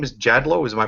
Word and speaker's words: Jadlow: And then my great-grandfather wanted got tired of being called Jadlot when it's pronounced Jadlo and changed it to a W.